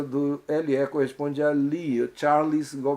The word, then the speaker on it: Charles: A próxima questão é no nome Charles, que a palavra, você poderia achar Charles, Charles. No nome Charles, a pronúncia do LE corresponde a OU em português, é a primeira opção, e é a correta.